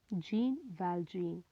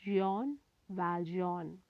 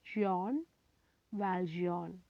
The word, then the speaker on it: Jean Valjean: noble bishop by victor hugo glossary first one gene valgein to be pronounced as john valjean it is pronounced as john valjean gene it is given here in english jean